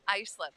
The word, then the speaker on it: Islip: You're going to know how to say the name Icelip. I'll never pronounce pronounce it wrong again.